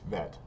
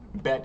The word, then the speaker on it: bet: Bet is with a dot. Without the dot, it's vet. But bet is going to be, we're going to stick with bet for right now.